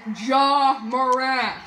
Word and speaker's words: Ja Morant: It's Ja Morant. Stop saying his name wrong.